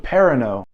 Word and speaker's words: Perrineau: Harold, how do you pronounce that? Harold Perrineau.